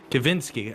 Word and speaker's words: Kavinsky: And I think, unfortunately, for Kavinsky there, Kavinsky, I should say, he has a V in his pronunciation. I'm trying to get it in there.